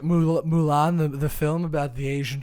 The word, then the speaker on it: Mulan: as bad as he's muyan's over here oh my god um and i'm saying that respectfully because he didn't say muan at all you're not even saying it right mulan the film about the